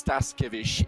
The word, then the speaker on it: Staskevich: So as far as I'm aware, and as far as my Irish tongue can wrap around, it's Staskevich, and I will just stick with that from now on.